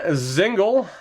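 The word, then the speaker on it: Dzingel: Ryan Zingle, apparently the D is silent, is with Logan Brown and Nick Bjugstad on the third line.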